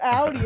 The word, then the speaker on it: Audi: ] look at this see that's how you say it Jake it's not Audie it's Audi A's a girl I